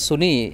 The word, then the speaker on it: SUNY: আচ্ছা ভাই, যে বললেন সুনি, এটা কিন্তু এই সুনি শিয়া সুনি সুনি না, এটা হলো SUNY, মানে state university of new York সিস্টেমের এটার অ্যাব্রিভিয়েটেড নাম হলো সুনি, সেটা মানুষ এভাবে উচ্চারণ করে, এটা শিয়া সুনি না।